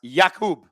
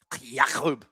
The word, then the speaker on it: Jakub: FYI, my name is pronounced Jakub. Jakub.